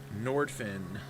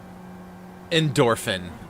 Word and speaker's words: Endorphin: Nordfin. Nordfin or Norfin? What is that? It's Endorphin. Oh, God.